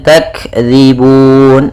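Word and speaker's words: تكذيبٌ: Kemudian takdzibun, ada kaf berharakat sukun, yaitu ada sifat hamas yang harus ditampakkan, tak, ak. Kemudian zibun, hati-hati dalam pelafalan zal, jangan dibaca zibun tapi zibun.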